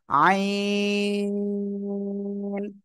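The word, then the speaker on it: ع: কি এই আইন অক্ষরটা আইন অক্ষরটা গলায় চেপে আমরা উচ্চারণ করব কোন বাতাস বের হবে না আর এ অক্ষরে চার এলিফ টেনে পড়তে হবে কোন জায়গা থেকে উচ্চারণ হবে সবাই বলেন হলকের মধ্যখান থেকে গলা চেপে উচ্চারণ করতে হবে আইন হ্যাঁ মুবাশিরা কি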